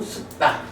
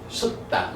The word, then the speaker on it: sutta: 뭐 산스크립트로는 숫 경제 언어인 빨리어로는 숙다. 숙다. 요게 이제 발음이 일반 영어 발음하고 조금 달라요. 어 그래서 숙다 이래 되는데 어 숙다.